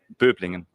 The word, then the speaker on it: Böblingen: Böblingen.